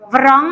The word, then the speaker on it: wrong: jadi itu tadi contohnya kalau wrong wrong ya terus wrong w-nya hilang kalau Naif berarti k-nya hilang